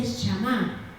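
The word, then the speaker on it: שמר: Pero en la palabra de Dios dice que la palabra guardar en la Biblia, en el hebreo la palabra guardar se dice shamá.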